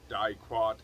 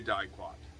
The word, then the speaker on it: Diquat: I don't know if Diquat is how you pronounce it.